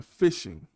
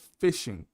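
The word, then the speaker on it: phishing: It's called fishing. It's uh fishing the same way you spell it except with you replace the f with a ph.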